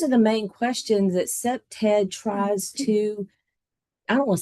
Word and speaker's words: CPTED: So like I said, it's pronounced CPTED.